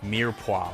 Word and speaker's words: mirepoix: adding in our carrots onion and celery aka near poa we talked about this a little bit earlier